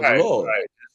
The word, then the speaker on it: Lyord: You know, Lord, you know, you don't pronounce the Y. It's just straight up, Lord.